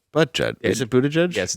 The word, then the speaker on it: Buttigieg: Buttigieg. Butt judge. Is it Buttigieg? Yes, it's Buttigieg. I always forget how to pronounce it.